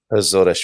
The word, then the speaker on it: Açores: known as the azores i i learned the the pronunciation when i first started thinking of moving here and pretty much here that's how everyone pronounces it a swordish zodesh fantastic okay so talking